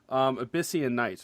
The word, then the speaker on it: Abyssian Knights: That, correct me if I'm saying it wrong, Abyssian Knights, right? Yep, that would be correct, actually.